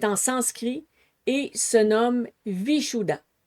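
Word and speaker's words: Vishuddha: Donc si est la prononciation exacte, vous pourrez aller voir des gens justement qui ont une langue qui se rapproche beaucoup plus du senserie que le français mais ce serait vichoua.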